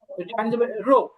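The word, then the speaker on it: 热: রো, যেমন আমাদের বাংলাদেশে এখন আবহাওয়া অনেক গরম না, তো এটা হবে রো। রো, হ্যাঁ, রো। রো, রো, হ্যাঁ, একবার রো, ফলিং টোনে রো।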